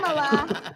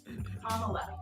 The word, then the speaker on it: Kamala: But as Kamala said, it's not Kamala. And I also want to thank Kamala for her leadership. How do you pronounce it? Kamala. Like a comma? Like the punctuation.